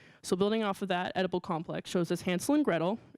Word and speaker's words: Edible Complex: importantly, clever captioning of Edible Complex, spelled E-D-I-B-L-E, but pronounced almost like Oedipal, spelled O-E-D-I-P-A-L, which is the tragic Greek hero.